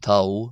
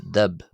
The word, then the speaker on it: ⲧⲁⲃ: And you notice here the b in final uh final position is not pronounced as a w. We don't have tao. We have tub. Tub. Uh, however, uh, we have sorry dab. We have dub. The letter dub because even though it's transliterated as t, it is pronounced as a d.